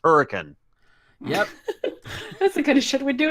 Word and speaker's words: Hurricane: just pronounced it incorrectly because it is not pronounced hurricane it is pronounced hurricane yep it should we do in Missouri anyway